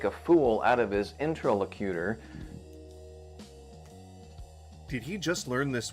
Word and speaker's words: interlocutor: attempts to make a fool out of his interlocutor, so the skeptic has no... Now that is an interesting way to say that. I'd always heard it pronounced interlocutor.